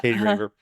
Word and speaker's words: Katie Raver: Katie Raver, is that how you pronounce it? Am I pronouncing it right? Yeah. Katie Raver.